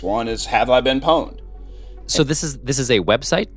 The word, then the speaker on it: pwned: And pwned is spelled Pwned. Okay. And the reason it's called, pwned is a play on terms on the word owned, which is, if I break into you, I own you.